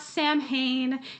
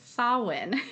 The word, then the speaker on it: Samhain: salwin uh is Gaelic it's actually spelled very differently from how it sounds in English but it's spelled s-a-m-h-a-i-n it's not Sam Hayne it's not Sam hin it's sawen is how we would